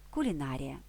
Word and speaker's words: кулінарія: ще кілька порад агрономія кулінарія ці іменники є похідними від нас професії Агроном Кулінар придивимося до цих слів що помічаємо те що наголос у похідних словах зберіг свою позицію нікуди не перемістився Агроном агрономія Кулінар кулінарія